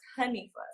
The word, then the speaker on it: Hanifa: And in Arabic, it's pronounced Hanifa.